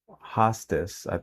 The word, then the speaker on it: Hostos: So the deal that happened here is between the new owner, the developer, and they got a deal with Hostos. I believe that's the way you pronounce it, Hostos University.